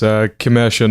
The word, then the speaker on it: Kimeshan: It's about 90% right. It's Kimeshan. Yeah. Kimeshan? Yeah. Kimeshan? Yeah, so like the A is like an I in the end.